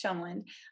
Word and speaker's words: Tjelmeland: And it's spelled really funky, but it's Chumland. So it's S Chumland.